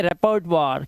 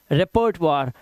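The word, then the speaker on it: repertoire: ठीक है, यहाँ पर देखिए, ये पे देखो स्पेलिंग देखो, ओ आई के बाद आर लगा हुआ है, तो यहाँ पर इसकी वजह से इसकी आवाज क्या हो गई, वाह हो गई, इसे पढ़ेंगे रेपर्टवार।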